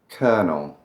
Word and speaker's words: colonel: I don't know what that R is doing in there, but I don't pronounce it. Maybe some people do. February. Doesn't sound right. February. Feb-u-airy. Kernel.